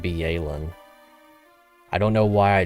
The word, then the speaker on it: Byelen: probably by glacio that viin is actually pronounced be alen I don't know why